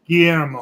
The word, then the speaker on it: Guillermo: Yeah, it's Guillermo.